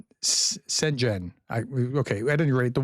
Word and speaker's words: Schengen: Somebody told me how to pronounce that, and I'm trying to do that right. Schengen.